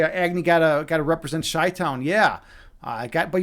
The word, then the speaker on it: Chi-Town: Man of Fire, you say Agni gotta represent Chi-Town. Yeah, but you're not saying it right, man. It's CHI, dude. CHI, dude. This is how we do it. Chi-Town, dude. We're not shy here.